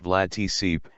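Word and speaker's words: Vlad Țepeș: He was posthumously dubbed Vlad the Impaler, Romanian, Vlad Ep, pronounced Vlad Tsip, and was a three-time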